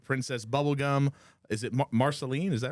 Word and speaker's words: Marceline: Or, Michael, how does it actually pronounced? They meet unforgettable characters like Princess Bubblegum. Is it Marceline? Is that right? Yeah, Marceline.